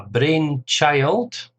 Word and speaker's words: brainchild: A brainchild. A brainchild, again stress on the first syllable.